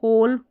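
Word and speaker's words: whole: जैसे कि यहाँ पर ये स्पेलिंग्स दे रखी है, ये सारी स्पेलिंग्स आ गई यहाँ पर, हु, होल, हुम, हुज।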